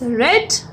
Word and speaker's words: read: Passive voice is, a book is read by her. Spelling will be same, but we will pronounce it as read.